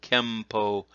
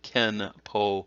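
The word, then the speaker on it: 拳法: So ken-po and kem-po, there's no difference in meaning. In fact, the ken-po should not be used that way. It should be kem with the m sound, po.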